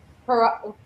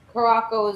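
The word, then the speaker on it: Curaçao: Curacao is the correct way, or something like that. And Caraco is very much the English, sorry, the American way of saying it.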